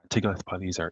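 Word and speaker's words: Tiglath-Pileser: name is to cultipilishar tigoth palesar is the hebrew way of pronouncing his name and i think he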